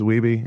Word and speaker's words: Wiebe: is going Steve Wiebe everybody's like that we be its we be and then like they're like oh we've been saying it wrong the whole time just you just have to you just have to remember you just have to remember the cover of lean on me we be jammin don't be a Mitchell